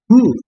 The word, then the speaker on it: who: W ketiga itu, W keempat adalah why, W kelima ada who, bacanya who, bukan who atau who, ya bukan, tapi who. Jadi seolah-olah W-nya tidak dibaca, jadi who.